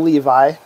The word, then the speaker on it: Levi: i'm right about it it's actually pronounced le v in hebrew ah so yeah that's